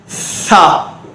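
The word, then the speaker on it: ث: சா, சா. கவனிங்க, சான்னு சொல்லும்போது நாக்கு வெளியே வந்து காற்று மட்டும் வரணும்.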